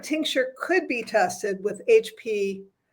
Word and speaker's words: HPTLC: So it sounds like, though, liquids could be tested with HPLTC. Did I say it right this time? HPTLC.